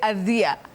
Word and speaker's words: adhere: I normally say adhere.